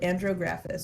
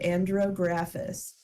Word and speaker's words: andrographis: Her doctor would give her an herb called andrographis, or she didn't give it to her.